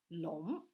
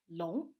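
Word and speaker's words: 龙: don't say dragon the character for it is long it's pronounced long stay with me long it looks like this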